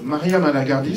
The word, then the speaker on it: Maria Malagardis: Donc, Maria Malagardis, c'est comme ça que ça se prononce, hein, voilà.